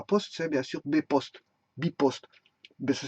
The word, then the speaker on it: bpost: Bon, en Belgique, ceux qui s'occupent de la poste, c'est bien sûr B-Post, Bipost. Ça s'écrit B-Post.